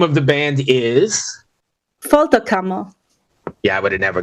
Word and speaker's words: Folterkammer: me I'm gonna need help with all these pronunciations okay no problem the name of the band is fto camo yeah I would have never got that so